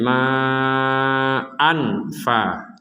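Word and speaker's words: مَاءً: Dan itu tidak boleh karena ini bukan huruf yang membuat dengungan atau dijelaskan 100% ma an. Nah, ini juga tidak bisa. Ah, yang betul adalah pertengahan antara dengung dan jelas. Ma an ada unsur dengungnya tapi tidak 100%.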